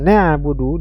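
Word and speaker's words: نعبد: membaca huruf e membaca huruf Ain pada kata nabudu dibaca dengan huruf hamzah nabudu iyaka nabudu jelas ini mengubah huruf ya asalnya Ain menjadi Hamzah kemudian huruf Sin pada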